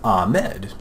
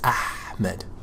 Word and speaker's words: Ahmed: oh well yeah it's ahed ahed like the word aha right just with about so Amed but in Arabic at least for my name H isn't silent you pronounce it it's Ahmed all right ahed you know